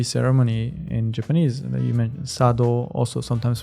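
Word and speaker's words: 茶道: in Japanese you mentioned Sado also sometimes pronounced chado and it's a kanji for tea cha and do which is like the road the way so the way of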